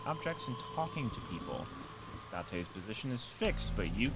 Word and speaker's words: Date: I called you here to inspect the scene, Date. Okay, Date is how you pronounce it.